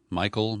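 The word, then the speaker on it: Michel: Angeles the police chief who spells his name mich al Chief Michael Moore I guess the way that's how he pronounces it he addressed the media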